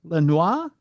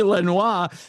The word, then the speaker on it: Lenoir: Lenor Lenoir. It should be Lenoir. That That's the French pronunciation, but it's probably Lenoir uh County Jail.